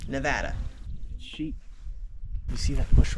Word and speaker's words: Nevada: nevada by the way that's how locals pronounce it nevada sheep you see that